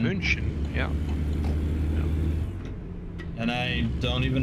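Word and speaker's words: München: I suppose yeah yeah German has some different pronunciations like Munich as we call it Munich in English it's munin German munin yeah and I don't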